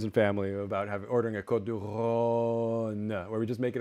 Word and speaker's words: Côte du Rhône: And he was saying, you know, you should pronounce it with a long vowel because that's more correct. It's Côte du Rhône.